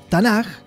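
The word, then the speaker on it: תנ״ך: Se pronuncia Tanaj, la K se pronuncia Tanaj, y básicamente son tres grupos de libros, ¿sí?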